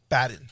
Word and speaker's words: Baden: this gentleman is Dr Michael Baden Michael bden badden sorry pronounce it B badden uh he's a forensic